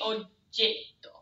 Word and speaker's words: oggetto: You spend more time on the G. Oggetto. Oggetto. You like cut off the first vowel.